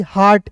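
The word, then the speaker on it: heart: या दोस्तों यहां पर इ ए के बाद आर आएगा तो इ ए का उच्चारण आ के रूप में आर टी हार्ट एच ई ए आर टी को पढ़ेंगे हार्ट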